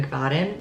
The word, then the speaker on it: McFadden: I got Dear Debbie by Frida McFadden.